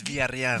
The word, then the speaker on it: Villarreal: Did I say it right? No, it's Villarreal. Villarreal. Yeah, dude, why you afraid? I was, Hey. I was doing it the Yeah, like hey, American hey. way, and I'm You're like, his, hey, fool.